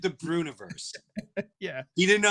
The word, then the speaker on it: Breuniverse: I went, just think of Breuer and universe. Breuniverse.